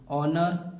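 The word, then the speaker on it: honour: ओ के पहले एच तो हमें एच को नहीं पढ़ना है अबकी बार एच को नहीं पढ़ना है तो इसे क्या पढ़ेंगे केवल इतना कहा पढ़ेंगे अंग्रेजी देखिए ऑनर ऑनेस्ट आवर इको तो इसे क्या पढ़ेंगे ऑनर पढ़ेंगे इसे क्या पढ़ेंगे ऑनेस्ट पढ़ेंगे इसे क्या पढ़ेंगे आवर पढ़ेंगे इसे क्या पढ़ेंगे इको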